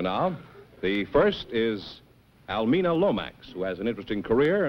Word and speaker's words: Lomax: uh almina Lomax yes oh is that the correct pronunciation yes Lomax Lomax huh we're very particular